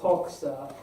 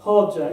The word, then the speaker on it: Hoxha: dictator mentioned here, Enver Hoxha, another how do you pronounce it? Hodja, excuse me.